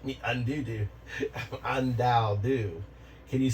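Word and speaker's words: Undaodu: Undao-do. Can you spell my name? The AI can spell the user's name. It is spelled U-N-D-A-O-D-U. And it's pronounced? It's pronounced undao-do.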